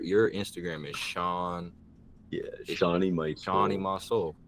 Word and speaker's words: Seany: Instagram is Sean yeah shie shie my soul okay I've been saying it bro I've been saying it wrong the whole time I've been saying my soul I never tell me